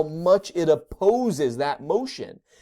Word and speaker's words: mu: But some cats, it's not meow, but some cats make the sound of mu.